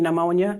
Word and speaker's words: pneumonia: Her B is like the silent P in pneumonia.